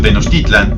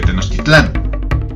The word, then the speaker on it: Tenochtitlan: del náhuatl es que las palabras en ese idioma tienen el acento fuerte en la penúltima sílaba. Por ello, si lo han notado en videos de este canal, pronuncio Tenochtitlan en lugar de Tenochtitlán, Teotihuacán en vez de Teotihuacán y Aztlán en vez de Aztlán.